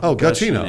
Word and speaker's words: Giacchino: I think on his Twitter he has it written out phonetically, and I think it's Giacchino. Giacchino.